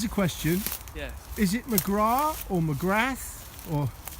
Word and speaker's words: McGrath: Is it McGrath or McGrath or It's McGrath. McGrath? It's only McGrath in Ireland where Yeah. they don't pronounce the TH and a bunch of other letters.